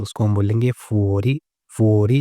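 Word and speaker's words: fuori: अगर बाहर है आउटसाइड है तो उसको हम बोलेंगे फुओरी।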